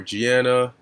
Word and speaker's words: Gianna: of her late daughter um uh guyana or gianna let me just see how to pronounce that name all right oh gianno okay